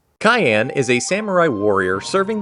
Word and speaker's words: Cyan: I know it's spelled like a certain color, but it's Cyan. That's how it's pronounced. Cyan is a samurai warrior serving the kingdom of Doma.